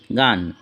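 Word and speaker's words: gun: আবার জি এর পরে এ, ও, ইউ থাকলে জি এর উচ্চারণ গ হয়। যেমন জিএএমই গেম, জিও গো, জিইউএন গান।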